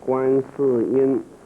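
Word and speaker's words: 观世音: It's a goddess of mercy, and In Chinese, pronounced as Guan Si Yin, and she likes to sit on top of the lotus flowers.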